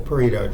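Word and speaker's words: Pareto: marker there we go that's the Paro chart and that's how you pronounce it so how about this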